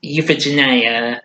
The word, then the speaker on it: Euphegenia: No wait, that's Euphegenia. That's how you pronounce it.